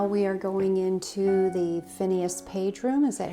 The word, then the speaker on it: Phineas: Okay, so now we are going into the Phineas Page room. Is that how you pronounce that?